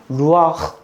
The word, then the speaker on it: 루아흐: 단어를 발음하기 굉장히 어려워요 어떻게 발음해야 되냐면 루아 이렇게 발음해야 돼 입을 여기를 긁어서 꼭 가르침 뱉을 때처럼 독일어 말할 때 막 이런 헉 소리 내죠 이스라엘도 히브리어 말할 때 확 소리를 내야 되는데이 루아 흙 이렇게 발음을 해야 돼요 근데이 루아흐라는 단어는 굉장히